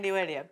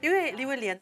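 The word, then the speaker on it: 李威廉: Leon Jay Williams Yes, the first syllable in Leon... sounds like "li" And Williams is transliterated as Wei-lian And I could accept this name It does sound like my name Wait a minute.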